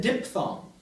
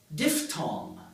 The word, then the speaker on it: diphthong: mini spiel about I and ow, how I pronounce this word? You noticed. I said diphthong.